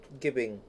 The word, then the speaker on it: gibbing: Gibbing. Yibbing. What the fuck is yibbing? You're dead. Lovely. Yeah, it's gibbing. That's how you say it.